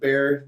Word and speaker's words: BEAR: b e a or i think they pronounce it bear the e is backwards it's like a three like that yeah like